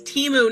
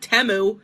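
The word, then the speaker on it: Temu: The name of the company is Teimu, not Teu.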